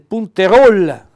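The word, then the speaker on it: punterol: Pegola e la pece il punter Rol ve lo pronuncio come lo dicono a Nago punteruolo non punter Rol la raspa l'attrezzo per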